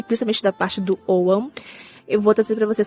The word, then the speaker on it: Ogham: Algumas pessoas aqui no Brasil falam Ogham, mas a pronúncia correta é Ogham, que é conhecido como alfabeto das árvores celtas.